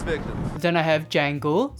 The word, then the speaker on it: Django: Then I have Django, the D is silent, Greedo, who shot first,